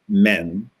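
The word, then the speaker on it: μέν: hand y and x is a syllable that's pronounced men and y is a syllable called death and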